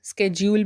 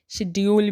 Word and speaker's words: schedule: SCHEDULE, इसको हम स्केड्यूल भी बोलते हैं, शेड्यूल भी बोलते हैं इसे हम।